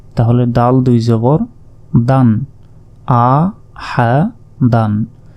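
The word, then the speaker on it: أَحَدًا: দাল দুই জবর দান আ হা দান এই শেষের আলিফের উপর দেখুন জবর জের পেশ কিছুই নেই তাই এই আলিফের উচ্চারণ আমরা করবো না আ হা দান শেষ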